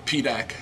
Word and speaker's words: PDAAK: how it's spelled uh it's the acronym pedac meaning PD AA which is a principal